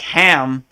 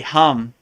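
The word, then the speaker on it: हं: all started laughing like it's hum not ham so I always laugh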